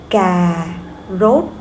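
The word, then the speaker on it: cà rốt: Okay, for or we have the word Ga rot. Ga rot. Okay, that means carrots. Ga with the falling and rot with the rising.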